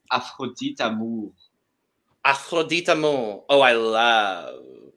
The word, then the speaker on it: Afrodite Amour: Just so you know, it's pronounced Afrodite Amour.